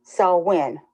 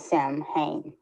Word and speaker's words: Samhain: quarter festivals so when is Gaelic and is pronounced so when not Sam Hain the theories of Life Death and transformation It